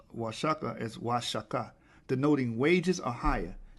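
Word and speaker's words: Oaxaca: cadis is pronounced why the X in the Spanish cadis is pronounced sha the correct pronunciation of wasaka isaka denoting wages or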